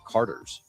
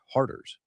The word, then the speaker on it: Harders: to talk about Harders to Lindsay, and I'm like, yeah, Harders. And she thought it was Carter's. Like, no, it's Harders.